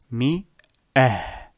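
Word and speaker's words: مائة: So it is pronounced mi-ah.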